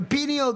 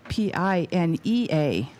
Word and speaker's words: pineal: We're talking about P-I-N-E-A-L. Right. Well, and you don't break up the two vowels. They should work together to form a hard vowel sound. Not a second syllable.